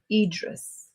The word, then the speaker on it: Idris: Because I know the I sounds like an E from Spanish. So how do you say it? Idris. Idris.